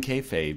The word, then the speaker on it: kayfabe: Stop breaking, how do you pronounce it? Is it kayfabe?